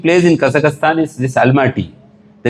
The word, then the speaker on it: Almaty: Then I said not Almighty, Almaty. So it looks like Almighty.